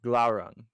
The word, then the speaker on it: Glaurung: that I think Glauron is his first name and Sprinkles is still his last name. How do you spell that for future reference? Glaurung.